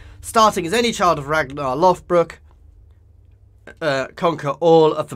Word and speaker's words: Ragnar Lothbrok: as any child of ragnar loft brook uh conquer all of the british isles i know i'm pronouncing ragnar lothbrok politely right because of all the tv shows so obviously we are